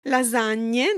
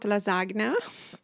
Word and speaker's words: lasagne: Lasagne, not lasagna. Lasagne is like more than one, though. Lasagne is a type of pasta that is composed of several layers. Oh, so the layers are lasagne?